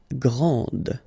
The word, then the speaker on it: grande: This final D is not pronounced. Okay, so grand, and then the feminine form, grande. Okay, so you put this E, and then you get the sound D, D, grande.